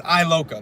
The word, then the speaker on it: Iloka: one knows how to say his name it's I lower gets an L I am so it's Iloka that's how I pretty